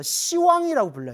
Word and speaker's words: 시왕: 그래서 불교에서는 10이라는 발음이 나오면 발음을 부드럽게 시라고 표현하는 거예요.